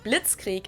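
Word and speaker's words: Blitzkrieg: used way before that we pronounce it Blitz Creek in German and it literally translates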